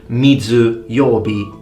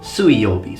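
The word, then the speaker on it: 水曜日: is day of water they don't say mitsu yobi they say suiyobi so the pronunciation so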